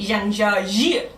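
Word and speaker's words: 张家界: the pronunciation's really different, it's a tonal language. So, like, in order to say Zhang Jia Jie, you have to say Zhang Jia Jie. So you had to like change the tone of your voice.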